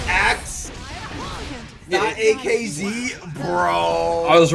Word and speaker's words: AKZ: It is pronounced axe.